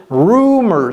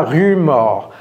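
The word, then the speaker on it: rumours: oknce mer given rum rumers ce n'est pas rumor c'est rumers rumers giving given ça veut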